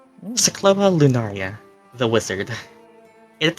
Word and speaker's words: Syklos: Syklos. I pronounced that right this time, right?